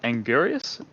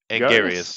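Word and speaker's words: Anguirus: How do you pronounce it? Angarius. Angarius, yes.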